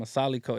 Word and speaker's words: Asaalico: Vic and I got my guy Milo from asaliko is that that's how you say it yeah